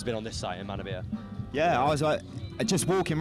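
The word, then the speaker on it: Manorbier: the local area, to Menorby, as you say, and Pembrokeshire. Manabia. Sorry, apologies. No, it's a classic. It's a classic. I got the French pronunciation going on there.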